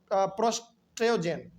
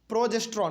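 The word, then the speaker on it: progesterone: and female sex hormone called oestrogen and प्रो प्रोटोजेन sorry sorry प्रोजेस्ट्रोन sorry my mistake इसको हम उच्चारण नहीं कर पा रहे थे प्रोजेस्ट्रोन तो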